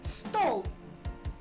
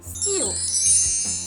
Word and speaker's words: стіл: українською буде правильно каструля як правильно стіл чи стол звичайно українською мовою правильно сказати стіл мої розумнички в